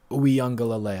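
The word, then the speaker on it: Uiagalelei: and dj uyanga lalay ooyangalalay apparently that's how you pronounce it okay thank you ryan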